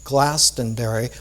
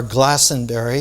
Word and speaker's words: Glastonbury: So that all of the resurrection vibration was taken from Jerusalem to that site that became Glastonbury, or Glastonbury. You shouldn't pronounce the T in English.